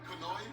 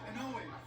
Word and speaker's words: Inoue: pronounce his name? Naoya. Naoya. Inoue. Kanoe? Inoue. Onoe?